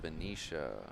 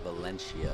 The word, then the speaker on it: Valencia: Sky 65 is A team from Venicia, Spain. A team from Spain. I think it's pronounced Valencia.